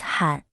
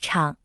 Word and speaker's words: 厂: Its original meaning refers to cliffs, and it is pronounced han. Factory in traditional Chinese is pronounced chang, originally meaning a simple house with no walls